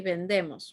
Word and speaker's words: vendemos: present or past because the present tense of bender would be vendemos right that would be we sell but when demos with an i that's we sold so